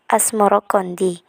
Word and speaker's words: Asmoroqondi: Sebutan itu mengikuti pengucapan lidah Jawa dalam melafalkan As-Samarkandi yang kemudian berubah menjadi Asmoro Kondi.